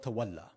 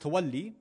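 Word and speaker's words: تولّي: the same root, is, now in Urdu, we usually have been told to call it tawalla, right? In Arabic, it's actually pronounced tawalli, not a big deal.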